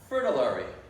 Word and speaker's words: Fritillary: Rhymes with military, the Diana Fritillary.